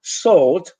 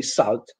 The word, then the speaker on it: salt: such in this context this letter A will be realized as all so instead of salt I've heard many people say salt salt and pepper ball